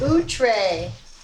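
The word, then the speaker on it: outré: It's pronounced outre, which means passing the bounds of what is usual.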